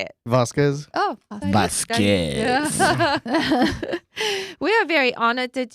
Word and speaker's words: Vasquez: right that's right how do you say it vasquez we are very honored that you are here